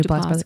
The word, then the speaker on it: Duplass: Is that how you pronounce his last name? Mm-hmm. Mark Duplass.